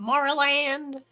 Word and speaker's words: Maryland: I say it like an I. Maryland. Like I I pronounce it. I say M E R I land. Then like L E N. Maryland. Got it. That's how I say it.